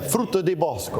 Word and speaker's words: frutta di bosco: Different ones in there, yeah, frutta di bosco. You get an A for the pronunciation.